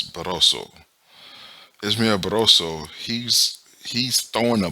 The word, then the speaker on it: Barroso: This man, they literally stopped the fight while Ismael Barrioso was, oh, I assume it's Barroso. I'm saying his name wrong. It's Barroso.